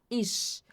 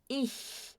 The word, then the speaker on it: ich: Apesar de ter o ch aqui, a gente não pronuncia com chiado. A gente não fala ich, a gente fala ih. Ih. Ó, não tem chiado.